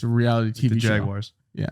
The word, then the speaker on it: Jaguars: Jaguars. Sorry. Yeah, but I say with the Jaguars. I say with the AU in there. You say it like with there's an I in there. It just I'm mildly perplexed.